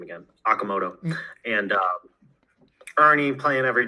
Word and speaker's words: Okamoto: Um they obviously added u how do you how do you pronounce his name? Okuna. Okunaza first base Okamoto.